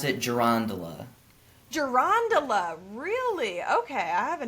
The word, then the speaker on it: girandola: So I kind of throw the emphasis in the middle of the word a little bit. I pronounce it gerondola.